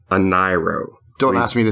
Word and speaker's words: Ahnayro: are you talking about all right yeah it is spelled a h a-h-n-a-y-r-o it's called a nairo colon the dream world it is roughly five